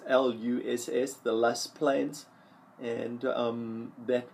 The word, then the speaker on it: loess: Some people call it Loess or Luss, pronounced Luss, the Luss Plains, and that was at one time an extremely fertile part of the world.